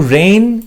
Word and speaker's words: reign: টু রেইন is worth ambition, এখানে REIGN, এটা উচ্চারণটা কিন্তু RAIN এর মতোই হবে, রেইনের মতোই হবে।